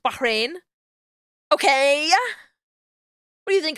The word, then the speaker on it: Bahrain: __ ] idiot and yes I know that it's pronounced Bahrain okay who do you